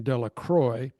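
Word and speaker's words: Delacroix: The villagers pronounced this name Dela Croy eventually made a great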